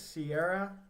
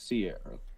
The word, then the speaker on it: Ciara: I believe it's Sierra. Sierra. It's Sierra. This beat Does is he honestly know that, automatic.